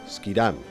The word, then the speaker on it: Schiedam: This was done in the town which almost gave her name to the drink, Schiedam, or as the English pronounce it, Schiedam.